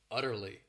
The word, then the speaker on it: utterly: This word has 3 syllables and the stress is on that first syllable, utterly.